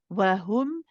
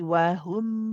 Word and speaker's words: وَهُمْ: Now wahum, be careful of the dhamma. Everyone at home, this is again a very common mistake to say wahu, right? To pronounce it as a ho and not a hu. So be careful. You want to make sure you round the lips and say wahum.